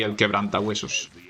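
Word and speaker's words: Quebrantahuesos: I pronounce it like that, as if I was English, but I could just say El Quebranta Huesos, which would actually be the way you'd say it in Spanish.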